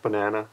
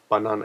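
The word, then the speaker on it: バナナ: Oh yeah, by the way, the pronunciation of banana, it's not banana, it's banana. There's something I notice about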